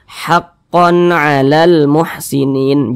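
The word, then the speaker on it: حَقًّا عَلَى الْمُحْسِنِينَ: Cara membacanya dibaca jelas, tidak berdengung. Karena dia dibaca jelas, nah, haqqon, konnya dibaca jelas. Kemudian dia tidak didengungkan, jadi baca pendek saja. Haqqon 'alal muhsinin.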